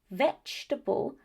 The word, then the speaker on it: vegetable: But in these two words, vegetable and comfortable, able is not the stressed syllable, and so the pronunciation changes. And what happens? It becomes vegetable and comfortable.